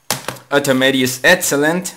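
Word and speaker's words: Otomedius Excellent: Well, then we have Automedius Excellent. Yes, that's how you pronounce this game.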